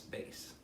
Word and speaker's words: bass: just remember that it's it's not pronounced mass it's bass like ba se but don't spell it